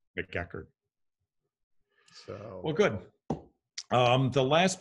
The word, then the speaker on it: McEachern: but we pronounce it, we bastardize it when we say McEachern. McEachern.